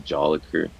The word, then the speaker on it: Jolicoeur: just stuck and like my last name is joliker like how you spell that I bet you don't even know you